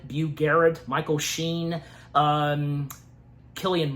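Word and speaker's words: Cillian: Garrett, Michael Sheen, um, Killian Murphy. Yeah, that's how his that's how his first name's pronounced.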